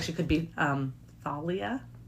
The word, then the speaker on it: Thalia: We should just make it all known that I will pronounce it Thalia. Thalia. Talia.